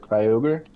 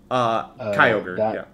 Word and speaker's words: Kyogre: And that one's actually similar to the, how do you pronounce it, Kyogre? Kyogre, Yeah.